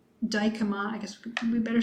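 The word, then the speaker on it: Dijkema: of us so brian dykema's email is b daikoma i guess we better spell that b d i j k e m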